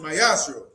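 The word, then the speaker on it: ma'aser: Means 10th in Hebrew and is pronounced mayashro.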